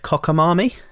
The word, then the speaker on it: cockamamie: It wasn't that long ago that I learned the word cockamamie. What? Cockamamie. Cockamamie? Cockamamie. When Like a cockamamie scheme? yeah. I'm pretty sure the thing I saw it in, they pronounced it marmy.